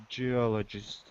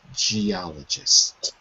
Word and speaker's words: geologist: pronunciation of the word geologist geologist that's it it's a soft G not a hard G geologist okay very good so